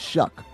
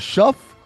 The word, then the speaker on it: Shough: You say it Shuck. I was like, is it Shuff or Show?